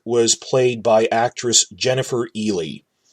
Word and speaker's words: Ehle: played by actress Jennifer Ehle I looked up how to pronounce that it's pronounced Ely and she's nice and